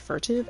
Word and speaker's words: furtive: If you watch the first cutscene of Dark Souls, you would know that it's pronounced furtive, as in the furtive pygmy so easily forgotten.